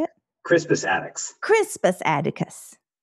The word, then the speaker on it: Attucks: Let's fast forward then really quickly, and we're going to wrap up with Cyprus Atticus. Is that how you say it? Crispus Attucks.